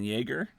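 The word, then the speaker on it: Yagher: And speaking of the masks, the makeup this time is not Rob Bottin, it's Kevin Yeager. Is that how you pronounce it? Yeah. Yeager.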